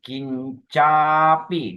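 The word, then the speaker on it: kiñcāpi: sajena suwatiu very good only focus on line number three is kincapi don't forget long a kincapite honti busapemata kincapi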